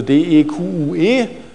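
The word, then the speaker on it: deque: Schreibt man auch manchmal abkürzend DEQ, also D-E-Q-U-E, spricht das aber DEQ aus und nicht DQ oder irgendwie sowas.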